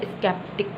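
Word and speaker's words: sceptic: Word जो है सी जो है प्रोनाउंसिएट होता है, इसके बावजूद कि उसके बाद कोई वोवल आ जाए या उससे पहले एस आ जाए। अब सिर्फ एक वर्ड है स्केप्टिक, सही, स्केप्टिक।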